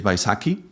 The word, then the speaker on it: Vaisakhi: Actually, the V and the B are often very connected.